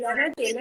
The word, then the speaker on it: Natella: Natella, es italiano, es italiano.